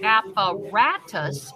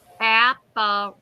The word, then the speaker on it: apparatus: Apparatus. I didn't get it. Apparatus. Okay. The 3rd syllable is the stressed syllable. Stressed. Oh. You stress ra.